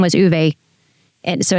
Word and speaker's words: Uwe: How do you pronounce the name of your business? UE.